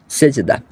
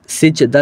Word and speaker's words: সেজদা: আমি সংশোধন হয়ে যাব তবে আমার জানা মতে সিজদা এটা ভুল উচ্চারণ বাংলার ক্ষেত্রে কিন্তু আরবি অনুযায়ী এটা সঠিক উচ্চারণ যেই ভাষায় যেরকম সেই